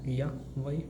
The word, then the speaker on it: ja: A is ya, A is a, ya, J means ya. J becomes ya, A becomes a, ya. So this word pronunciation becomes like ya.